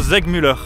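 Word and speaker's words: Segmüller: Francfort, dans le magasin Zegmüller. S en allemand ça se prononce comme un Z et vice versa.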